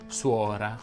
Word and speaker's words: suora: Quando troviamo il dittongo uo, la O va generalmente pronunciata aperta. Infatti si dice tuono, suono, cuore, tuorlo, muovi, suora, nuovo, uova e così via.